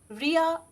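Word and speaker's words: Reya: এরপর মনের ইচ্ছাটা বলার পর লিখে নিন রিয়া অ্যাসপেরা রেহমা নীতিকা।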